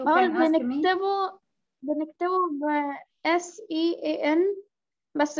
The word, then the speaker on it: Sean: The name is written scene, but it's pronounced Sean.